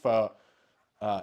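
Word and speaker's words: phở: Oh, I'm surprised you pronounce f. Uh, it's like fu, isn't it? F. Like there the tone is actually like a it's like almost more like a question.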